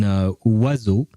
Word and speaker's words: oiseau: sound wa, as in oiseau, for instance, Oiseau. Yeah, no, I shouldn't have picked that word. Oiseau means a bird, by the way. But yeah, so yeah, because EAU is pronounced O.